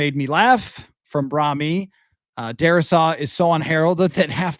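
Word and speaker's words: Darrisaw: Is it Dar Shaw that they're saying instead of Darasaw? Because there's really no H there.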